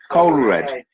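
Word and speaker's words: Coelred: It's Cold. It's C-O-E-L. Yeah. Red. It's like Joel Coldred. Coldred. Coldred. So there's a guy called Coldred. Yeah, you've got to imagine it with an accent. Coldred. Coldred.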